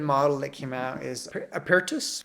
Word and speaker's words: Apertus: Another interesting and open model that came out is Apertus. I think that's how you would pronounce it, which sounds like Latin for open, and it is an open model.